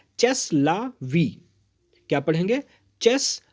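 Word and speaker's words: c'est la vie: यही तो जीवन है, यही तो जीवन है को अगर आपको फ्रेंच में बोलना है तो आप बोलेंगे सेस ला वी।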